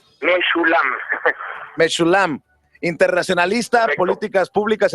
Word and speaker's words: Meschoulam: ¿Cómo se pronuncia tu apellido? Meshulam.